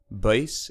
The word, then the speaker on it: Buys: bass website www the base is spelt b-u-y-s section 8 of the